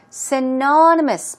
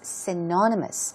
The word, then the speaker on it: synonymous: Stress goes right there on the second syllable. Think of synonym if you can't remember the meaning of this word. Synonymous means that it is of similar meaning.